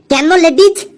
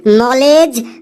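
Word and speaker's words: knowledge: ডি জি ই ladies sir ওটা লেখা আছে কেন লেডিজ কেন লেডিজ বাপরে বাপ কি সাংঘাতিক উচ্চারণ রে বাবা স্যার বোর্ডে ওটা লেখা আছে নলেজ নলেজ মানে জ্ঞান এই ক্লাসে এই হাবলুই একমাত্র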